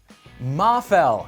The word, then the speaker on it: Mafell: more info over bosch tools calm slash freak mah fell as it turns out that's how it's pronounced and it's a good thing we figured